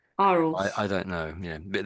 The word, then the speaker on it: Arles: This town here, I think the L and the S is silent if you're saying it in French.